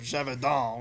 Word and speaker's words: Gévaudan: You watch the movie Beast of Gévaudan, which he released. It's how they say it. It's French.